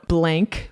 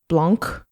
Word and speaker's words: Blanc: He's working on Blank, which is spelled with a C at the end. Blanc.